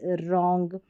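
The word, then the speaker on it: wrong: डब्ल्यू आर को र पढ़ते हैं। डब्ल्यू साइलेंट रहता है। तो राइट रॉन्ग।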